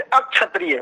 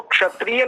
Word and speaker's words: क्षत्रिय: जैसे अक्षत्रिय, वो बोलते हैं अक्षत्रिय, वो क्षत्रिय नहीं बोलते, वो अक्षत्रिय बोलते हैं। और कुछ लोग तो सीधा क्षत्रिय कर देते हैं इसका, क्षत्रिय।